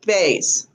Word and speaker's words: Bazet: So did I say her name correctly? Renelle Bays. Bays, okay.